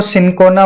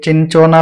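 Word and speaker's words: Cinchona: Next है इन which one ऑफ the following state, इसको सिनकोना बोलते हैं, ठीक है, इसका प्रोनाउंसिएशन गलत मत करना, कोई चिंचोना बोल देता है, कोई कुछ, सिनकोना ट्री बोलते हैं इसको, सिनकोना ट्री।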